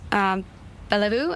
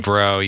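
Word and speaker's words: Guillebeau: I think it's by Chris Bellevue. I'm not sure if I'm pronouncing correctly. Gelabro, yeah. Gelabro, yes, yes.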